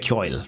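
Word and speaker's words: Ceoil: There are graphics with GIMP and music, Audacity and Bosca Kyoil. Pronounced Kyoil. Seriously? I've always thought it's Kyoil. But what do I know?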